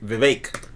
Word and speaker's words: Vivek: back we've done both we can't sing his name wrong too by the way is fake like cake Vivek leader of the Free